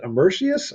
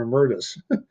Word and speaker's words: emeritus: Is it emeritius or emeritus? Oh, Or emeritus? Emeritus. That's the word.